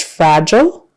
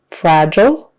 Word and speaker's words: fragile: the next word is fragile fragile so that g in the middle is a j sound and the i e we say it like an o o fragile beard beard make